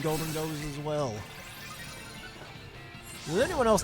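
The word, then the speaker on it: Gholdengo: I have 2 Golden Goes as well. Does anyone else not really like it how some people pronounce Golden Go as Goldango? Dang, Golden Go, how you doing? It's just Golden Go.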